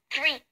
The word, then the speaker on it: three: No se pronuncia three, se pronuncia three. Mi abuelita me enseñó que se tiene que pronunciar bien entre la T y la H.